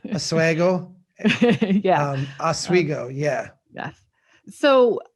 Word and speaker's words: Oswego: who lives up there says it's pronounced Oswego yeah I think you're right I'm from Minnesota so we like the a you know Oswego yeah Oswego yeah yes